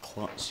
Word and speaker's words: Klutz: Hello guys, it's Klutz here. Yes, that's how you pronounce my name.